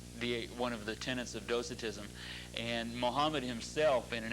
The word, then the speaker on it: Docetism: And it was the translation in Arabic was marked by pronounced Docetism, D-O-C-E-T-I-S-M, Docetism, which is a form of Gnosticism.